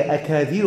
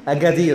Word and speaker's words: Agadir: طب حلو، خلاص خلاص، يبقى انا يبقى صح، اجادير. اوكي، يبقى انت تكتب بالكاف وتنطق يبقى بالقاف بقى، ما هو القاف خلاص. طيب يبقى هي اجادير، ده نطق بتاعها اجادير. هي بالانجليزي جي، كلمه امازيغيه، يعني ايه بقى؟